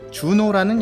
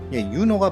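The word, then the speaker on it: Juno: 네, 이 여신이 바로 주노라는 여신입니다. 유노라고도 해요. 유노하니까 무슨 연예인 이름 같기도 한데 유노가 바로 6월을 나타내는 신이고요.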